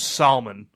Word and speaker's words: Salmon: It's pronounced Salmon.